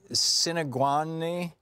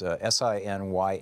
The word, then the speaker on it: Sinyangwe: Okay, Samuel Sinagwani. I'm not sure how to pronounce his last name. It's Sinyangwe.